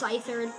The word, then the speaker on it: Scyther: It's Scyther. The C is silent.